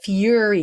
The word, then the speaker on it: fury: uh this english thing when it's two r's furry as in lots of fur but when it's when it's one r it's fury yuri fury so you really pronounce